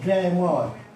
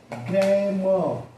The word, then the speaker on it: grammar: तो इसको हम कहेंगे ग्रामर। आप देखिए, इसको हम बोलेंगे ग्रामर। आर को हमने साइलेंट कर दिया तो इसका उच्चारण हम सिर्फ करेंगे ग्रामर।